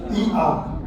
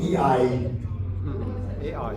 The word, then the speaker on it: IA: On prononce ça comme ça. IA. Magnifique, j'ai une belle audience. J'ai l'habitude d'entendre des gens dire AI.